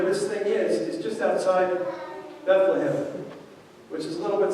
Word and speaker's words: Bethlehem: And you see what's astounding about that is Bethlehem, which is more like the Hebrew pronunciation, means house of bread.